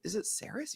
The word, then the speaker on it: Sarris: I'm like, is it Sarris? He goes, yeah, you've been mispronouncing my name the entire time.